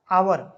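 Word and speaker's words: hour: हो Wavell sound से जैसे एच ओ यू आर लिखा तो एच है लेकिन इनका उच्चारण क्या होता है आवर आवर आवर क्या है वावेल है तो यहां पर एन का प्रयोग होगा वहीं पर कंसोनेंट की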